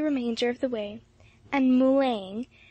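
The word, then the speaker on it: Moulins: of the way and mulan as matt pronounced moline was reached after a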